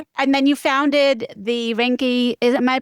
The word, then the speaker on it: Reincke: And then you founded the Rinki is am I pronouncing your last name correctly? That is correct. Yes. Rinky vein center in Texas in Sugarland about four years ago.